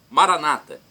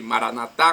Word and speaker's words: Maranata: os evangélicos ou protestantes Maranata com a tônica na penúltima sílaba não importa católicos dizem Maranata com a tônica na